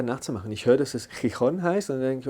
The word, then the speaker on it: Gijón: So, Gijón. Perfekto, Gijón. Gijón. Das gibt's ja auf Englisch, dieses Ch nicht. Ich versuche das einfach nachzumachen. Ich höre, dass es Gijón heißt und dann denke ich, okay, ist Gijón.